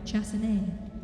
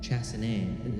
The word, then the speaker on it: Chassé: Chassine. Chassé.